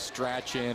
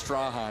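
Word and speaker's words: Strachan: graduated last year everybody all the PA announcers could never pronounce their last name he's always stratch in or St in it's straan everybody I'd always call her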